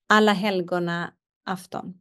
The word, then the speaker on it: Alla helgona afton: So it's called Alla helgona afton. Alla helgona afton. Oh my goodness. Or All Saints Eve. Alla helgona afton.